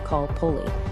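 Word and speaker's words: calpolli: The basic building block of life for a commoner was the kalpoli, pronounced kalpoli.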